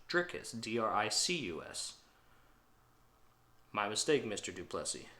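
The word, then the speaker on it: Dricus: I just realized this I've been saying trick is his name wrong the entire time it's not driscus which I thought it was it's trickus d-r-i-c-u-s my mistake Mr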